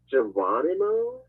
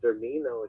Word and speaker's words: Germino: the tape, she says, "Your name is Geronimo? Oh yeah, Is yeah. that how you say it, Geronimo?" She's Geronimo. really mocking me. I'm not offended though. So, Yeah. and then she about my last name, and then when I said Germino, she was really laughing